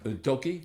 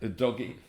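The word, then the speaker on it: Udogie: regular left back in ad DOI but UD doy o doy yeah o doy but he's injured at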